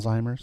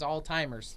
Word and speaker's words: Alzheimer's: Never heard it said that way. Well, that's how it's said. Alzheimer's. That's. If I you thought say it was all timers. it's not.